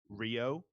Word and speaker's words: Riho: a weird matchup yeah just call her riho by her name rio rio rio i go